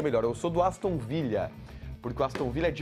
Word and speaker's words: Aston Villa: dois minutos é Podcast pronuncia correto o nome do time Aston Villa esse l não é espanhol dobrado pronunciar o nome do